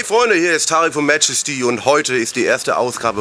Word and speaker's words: MAJESTY: wrong online many times How can that happen, it´s MAJESTY and not MAJJJJESSSTY And if you want